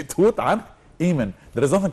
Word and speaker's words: Tutankhamun: There is nothing called Tut. There is nothing called this Tut. No, it's Tutankhamun.